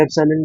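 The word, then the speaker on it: epsilon: ठीक है, इसको बेसिकली जो सिंबल है इसको प्रोनाउंस करते हैं एप्सिलॉन, यहाँ पे लिख देता हूँ एप्सिलॉन। ठीक है, एप्सिलॉन हो गया ये सिंबल, और अगर नॉट लगा देंगे तो इसको बोलते हैं एप्सिलॉन नॉट, एप्सिलॉन not. Okay, ये सिंबल को एप्सिलॉन प्रोनाउंस करते हैं।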